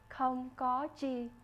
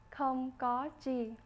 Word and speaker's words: không có chi: You're welcome in Vietnamese is pronounced không có chi. One more time, không có chi.